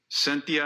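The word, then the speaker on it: Cynthia: DA's office could you say her name correctly cythia noaca UHA c y n t h i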